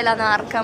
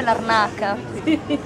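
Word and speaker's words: Larnaca: Allora ho scoperto io a fine di questa vacanza lavoro che non si dice l'anarca ma si dice l'arnaca, quindi questa è proprio una biondata.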